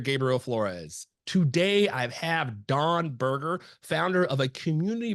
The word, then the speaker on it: Dan: But first, Don, go ahead and introduce yourself. Who is Don Berger? So my name is Don. It's spelled Dan, pronounced Don. It's a Hebrew name.